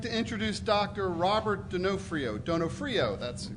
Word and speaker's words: Donofrio: Robert Donofrio, that's how you pronounce it, who holds the position of the Director of Microbiology and Molecular Biology at NSF International.